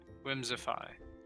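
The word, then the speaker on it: Whimsiphae: old jim jones juice i call it whimsify that's how it's pronounced but it's spelled w-h-i-m-s-i-p-h-a-e whimsify well lol cool i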